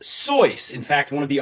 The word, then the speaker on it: Seuss: You're wrong as the deuce and you shouldn't rejoice if you're calling him Seuss.